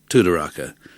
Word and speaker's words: Tudoraka: Tudoraka is pronounced Tudoraka, just as I thought.